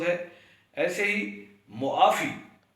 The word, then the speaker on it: معافی: تلفظ ہے۔ ایسے ہی معافی، یعنی عین کو بھی پڑھنا چاہیے، اکثر لوگ معافی پڑھتے ہیں، عین کو دبا دیتے ہیں تو یہ غلط تلفظ ہے۔ معافی درست تلفظ ہے۔ اور ایک اور لفظ